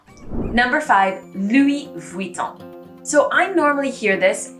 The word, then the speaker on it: Louis Vuitton: v and the u it makes a vui sound so you really know somebody's making an effort when you hear louis vuitton you see the difference